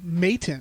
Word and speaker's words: Madden: It's pronounced Mayton. Mayton.